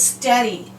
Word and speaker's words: steady: and how about this word it's a two syllable word this word is steady we hear the app and the NA is